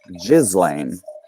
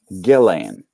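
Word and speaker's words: Ghislaine: to gelane maxwell because we have been mispronouncing her name this entire time and calling her jizzling when it is gillane i'm sorry i think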